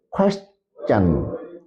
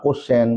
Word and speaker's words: question: In this video, I focus on a word that is question. Question. আমরা সাধারণত এই ওয়ার্ডটি আমরা ভুল উচ্চারণ করে থাকি। আমরা অনেকে বলি যে কোশ্চেন, কুয়েশ্চেন। সো সঠিক উচ্চারণ হবে question.